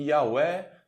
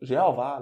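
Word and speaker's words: Yahweh: em hebraico na verdade e nós não sabemos exatamente a pronúncia desse nome em hebraico nós só temos tetragrama que é yhwh ver se eu não me engano o fh não lembro agora enfim você pesquisa aí mais acordado é de comum acordo pronuncia algumas vezes de yaweh e aveh infra adaptado para o português como jeová né geralmente nas traduções você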